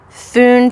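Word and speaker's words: Fionn: in here that says pronounce foon to rhyme with tune so i'm thinking that's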